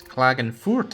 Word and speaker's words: Klagenfurt: It's Klagenfurt, actually, without the th.